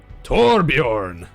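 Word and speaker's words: Torbjörn: How do you pronounce it? Is it Torbjorn? Torbjorn.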